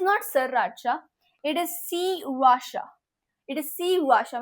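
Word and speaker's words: Sriracha: insulted an entire bottle of spicy Joy या Shri राचा नो इट इज़ C Washa then this भो हो ये तो देख के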